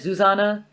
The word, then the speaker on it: Zuzana: name i don't know it's supposed to be like susannah but like the czech version so it's like zuzana right it's about zuzana but i don't know